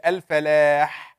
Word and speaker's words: الفلاح: الفلاح, it's a very weak ha.